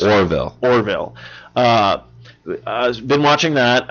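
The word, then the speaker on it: The Orville: pronounce this want wrong I want to say the orbital but I know it's Orville Orville I've been watching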